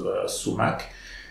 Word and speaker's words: sumac: Alors, toujours dans les lettres S, vous avez ici somor. En français, ça se prononce sumac.